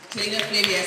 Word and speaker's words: Selina Flavius: Selina Flavius, who is the director of Black Girl Finance.